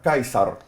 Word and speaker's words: Caesar: Wel, want in Latyn destyds het dit nie geklink soos, uh, Caesar nie, maar soos Kaisar.